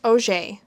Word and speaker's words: Augur: My surname Augur is pronounced Auger.